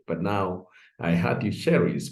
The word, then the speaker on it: Cherice: But now I heard you Cherice pronounce that.